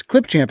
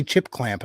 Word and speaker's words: Clipchamp: is easy to yes clipchamp I said it right this time I usually say chip clamp I don't know why